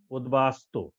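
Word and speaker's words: উদ্বাস্তু: উপসর্গের সাথে ব ফালা যুক্ত হলে ম এর উচ্চারণ বজায় থাকে যেমন উদ্বাস্ত উদ্বাস্ত শব্দটি উদ্বাস্ত এখানে দেখো দ এর সাথে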